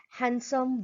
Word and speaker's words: handsome: Handsome, Wednesday, sandwich. Here you can notice silent D in the above mentioned word.